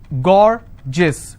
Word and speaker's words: gorgeous: well for example i have a word gorgeous so gor jis two syllable i will stress on gore s i